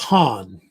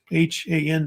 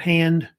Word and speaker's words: Han: And it's usually pronounced Han, H-A-N, Han, not hand.